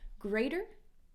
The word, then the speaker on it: greater: think of things greater flap T sounds like the greater greater than themselves okay